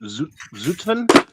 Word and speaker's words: Zutphen: I'm in Zutphen, I think is how you pronounce it.